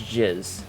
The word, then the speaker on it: jizz: It's pronounced jizz.